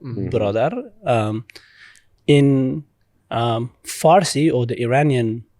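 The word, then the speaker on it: برادر: In Dari, it's brodar, which is the formal way of pronouncing the word, brodar.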